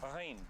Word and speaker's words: Jaén: Well, we say in English Jain, but it's actually pronounced Rain, like the Arabic word.